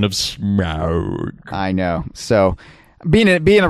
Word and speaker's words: Smaug: They at least normalize the pronunciation of Smaug. I know. So, being a resident of LA for even a short time, I was trained to say smog.